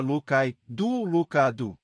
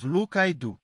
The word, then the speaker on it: Lucado: pecados um João 4.10 as pessoas costumam perguntar sobre a pronúncia do meu sobrenome em inglês é lukai Cada um fala a sua maneira mas só para registro o certo é Lucas é claro que podemos